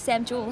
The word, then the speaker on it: Sam Joole: in Bondi my name is Cassie this is Sam juel how are you did I pronounce that correctly yeah j o o l